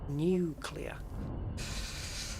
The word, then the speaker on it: nuclear: any nuclear not new it's not nuclear nuclear new clear it's new and it's clear three bodies okay and